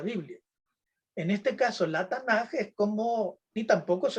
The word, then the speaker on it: Tanaj: Pues va a utilizar lo que tenemos acá, este cuadrito que está a la izquierda, la Tanaj, así se pronuncia, ¿no?